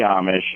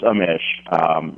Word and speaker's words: Amish: It's actually Amish Parikh, and it's not the Amish. It's Amish.